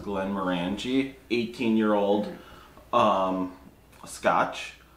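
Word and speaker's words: Glenmorangie: is finished in this i believe it's pronounced glenn moranji 18 year old um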